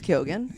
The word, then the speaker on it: Keoghan: I think it's Kyogen.